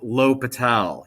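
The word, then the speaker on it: L'Hôpital: about the hospital's rule it's actually pronounced low patel he's french and what low patel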